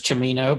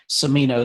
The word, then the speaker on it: Cimino: Either way, the Italian pronunciation is Cimino, but if you want to say Cimino, that's more common.